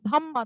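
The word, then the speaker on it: dhamma: ধর্মাকে আমরা হিন্দু, মানে সংস্কৃত বা হিন্দিতে বা বাংলাতে ধর্মা বলি, তো একটা রয়ের উচ্চারণ হয় তো, পালিতে কি হয়, এটা পালি ভাষায় লেখা, পালি ভাষায় আটটা কেটে যায়, শুধু ধাম্মা থাকে, ঠিক আছে।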